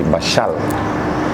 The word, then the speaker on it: Bachal: Bachal, c'est un mot mankagne qui veut dire, en prononciation mankagne, on dit Bachal, donc qui veut dire les penseurs.